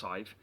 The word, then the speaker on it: Sadhbh: Um and it's spelt for those who are interested s a d b h but pronounced Sadhbh, okay?